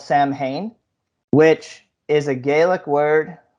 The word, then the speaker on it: Samhain: and I found out there were two ways of saying it like one is sawwin and the other is sakwin and I'm not really